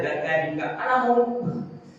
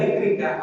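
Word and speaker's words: ذكرك: Khatib itu kan nggak tahu bahasa Arab dan mungkin nggak pernah baca doa ini. Na'udzubillah. Bacanya doa apa? Allahumma a'inni ala zakarika. Ya Allah ya Rabbi. Itu maknanya. Tulisannya sama.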